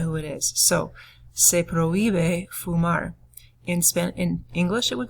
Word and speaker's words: prohíbe: Do notice on prohíbe, too, that the accent is on the I of prohíbe.